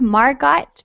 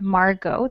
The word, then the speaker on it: Margot: It looks like Margot, but it's pronounced Margot. The T is silent.